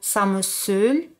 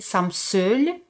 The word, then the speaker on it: ça me saoule: La expresión ça me saoule, o se puede pronunciarlo así, ça me saoule, que es ça m'énerve, significa me fastidia.